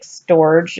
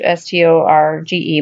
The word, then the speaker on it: Storge: It looks like Storge, S-T-O-R-G-E, but it's pronounced Storge.